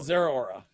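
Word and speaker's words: Zeraora: On to Zerora. Sure. That's how you pronounce it.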